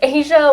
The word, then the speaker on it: Azsha: you on social and stuff yeah so it's asia um the only person with my name